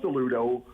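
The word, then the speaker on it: Alludo: Rebrand so it is now rebranded itself as a Ludo that's a um a-l-l-u-d-o and it's kind of so it's pronounced the Ludo but the identity is it's all you with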